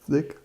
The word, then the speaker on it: Zig: How to pronounce it? Zig.